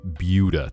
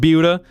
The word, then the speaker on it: Buda: Oh, some of the cities like Butuda, Texas. Why is it pronounced Buda? Cuz it's butchered from it's butchered from Spanish.